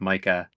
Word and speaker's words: Micah: um and then uh you said Michael but it's Micah Oh I thought M